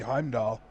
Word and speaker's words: Heimdall: oh that's not how I supposed to be Heimdall oh I didn't know it's dad - L